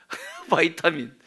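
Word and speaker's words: vitamin: 여러분 잘는 잘 아시는 비타민 비타민 하시죠 원래 발음은 뭐예요 그렇지 바이타민이라고 하죠 바이타민 비타민은 한국식으로 읽은 거고요 바이타민이라 그래요 그런데요 그 비타민의 비비드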